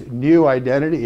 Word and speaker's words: NeuIdentity: It's New Identity. It's spelled N-E-U, like neuroscience, neuroplasticity, neurodiversity.